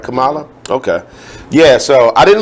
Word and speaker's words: Kamala: is it Kamala or I saying it right Kamala okay yeah so I didn't look into it